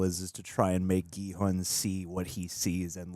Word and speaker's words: Gi-hun: Gi-hun. Yeah, I think when they say it, it's a soft G.